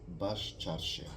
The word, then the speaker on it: Baščaršija: Baščaršija.